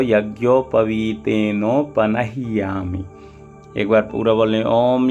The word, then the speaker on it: पनह्यामि: यहाँ पर भी देखिए नह्यामि, हा के साथ ही या जुड़ा हुआ है, यानी हा आधा है तो जल्दी बोलेंगे पनह्यामि, और या के साथ